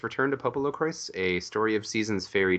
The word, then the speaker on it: PoPoLoCrois: The official word is that it's pronounced Popolo Croix, but it looks like a Croix.